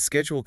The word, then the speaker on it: schedule: Since schedule comes from the Greek skaddai, Webster pushed for the hard sk.